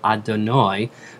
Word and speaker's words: Adonai: The next two words of the blessing, continuing, are Hashem, or pronounced Adonai in worship, and Elohim.